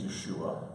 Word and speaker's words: Yeshua: about the pronunciation no we should try to educate to say his name is Yeshua because in Matthew 1:23